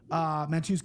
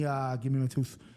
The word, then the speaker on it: Mateusz: So yeah, give me Mateusz Gamrot. Christian? Mateusz, is that how you say it? It's like yeah, Mateusz, that's another really good breakdown.